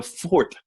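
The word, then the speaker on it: Pfordt: And that golden nugget was a family tree for the Fort family. It's pronounced F-O-R-T. It is spelled P-F-O-R-D-T, the Fort family.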